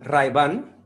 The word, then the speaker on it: Ray-Ban: hyde band en español ray-ban ray ban así que pronunciamos la r muy fuerte y la n la